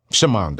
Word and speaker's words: Schamonda: It's SCHAMONDA. The Yep. S is silent. So. Yep. Shamanda. As a matter of fact, let me take the S out of it so I can just say it like that.